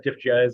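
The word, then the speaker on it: Dif Juz: Also, the saxophone player from Diffuse, Richard Thomas, was on this, and I love Diffuse or Diffjez, or however you want to pronounce it, but I think it's Diffuse.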